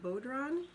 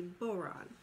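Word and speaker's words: bodhrán: We were gonna do these Irish drums called, it looks like it would be pronounced Bodron. It's actually Boron.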